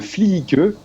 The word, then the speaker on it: Fliike: Il a un nom qui est très difficile à prononcer. Il s'appelle le Fliike, F-L-I-I-K-E.